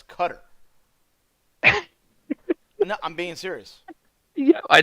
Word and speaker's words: Qatar: them it's Qatari well or you say the way how is actually pronounced and that's cutter I'm being serious yeah